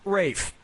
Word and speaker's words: Ralph: three yeah ray finds first name is spelled like Ralph but pronounced Rafe and his brother Joseph